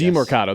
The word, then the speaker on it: Demercado: DeMercado, yes. DeMercado, that's right.